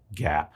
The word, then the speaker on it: GAAP: By law, financial information has to be presented in accordance with generally accepted accounting principles, GAAP, pronounced GAAP.